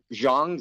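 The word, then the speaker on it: Zhang: if I could spell her name it's uh Jang z h n g way hers is actually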